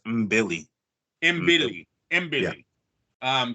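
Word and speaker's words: Mbilli: name bro um um basically Billy with an M so it's MB Billy MB Billy MB Billy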